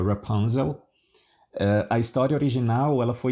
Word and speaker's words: Rapunzel: Hoje você vai ouvir a história de Rapunzel, em inglês a gente pronuncia Rapunzel.